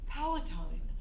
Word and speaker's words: Palatine: I thought this morning driving over here, Palatine. I really like that name. Oh, it rhymes with Palestine, where my father's from.